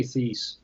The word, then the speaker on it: Thies: How do you pronounce his last name? I never can get it right. I say Thies.